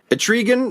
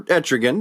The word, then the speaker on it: Etrigan: be able to do etrigan or etrigan depending on how you pronounce his name his head's on a